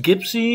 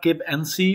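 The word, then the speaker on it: Gib'Sea: we left we had another viewing of the gibsy 444 it's pronounced gibsy it's not gib nc what i said all the time before but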